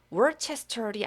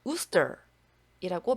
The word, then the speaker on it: Worcester: 그리고 이 곳이 실제로 지금도 존재하는 곳이고 발음이 월체스터이 아니라 우스터이라고 말씀을 드린 적이 있습니다.